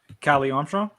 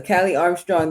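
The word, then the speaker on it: Kali Armstrong: Callie Armstrong. Kelly Armstrong. Yes. So, Callie Armstrong, the Evolved Women's Champion versus Jordan Grace, which was something I kind of didn't know I needed.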